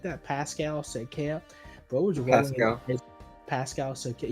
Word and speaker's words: Pascal Siakam: Pascal Siakam.